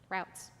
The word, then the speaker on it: routes: took different Subway routes routes how do you say it roots or routes thank you Wendy either one I'll use them interchangeably so they adjusted their